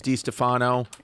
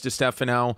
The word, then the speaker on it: Distefano: Even in my own family, like my father says Di Stefano and his sister says Di Stefano.